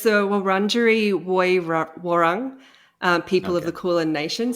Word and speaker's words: Wurundjeri Woi Wurrung: the lands of the, and I'm hoping I'm pronouncing this correctly, I'm probably not, Wurrung Jerry Wurrung people of the Kulin Nation.